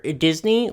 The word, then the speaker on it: Disney: For Disney, we're starting to see some of the dolls for the upcoming live-action Little Mermaid movie.